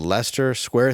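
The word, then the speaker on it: Leicester Square: 23rd tickets are on sale now that's the Lester Square Theater March 23rd 2024 am I saying it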